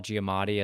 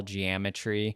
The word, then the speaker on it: Giamatti: And one time he pronounced Paul Giamatti as like Paul Geometry.